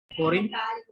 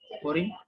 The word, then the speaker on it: foreign: G is silent. Foreign. Foreign. Foreign.